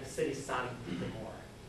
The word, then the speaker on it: Gomorrah: And like the city Sodom and Gomorrah. And Hebrew Sodom Amor, because the A sound used to have a G sound.